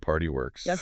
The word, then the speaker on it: PRTY WORX: Spell it out. P R T Y W O RX. Sounds like party works.